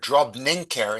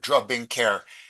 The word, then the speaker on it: drobninker: Yeah, it's interesting that Ezra is reading the word drobninker instead of drobinker. And if you look in the dictionaries, you find it only Ezra's way, drobnink, not drobink.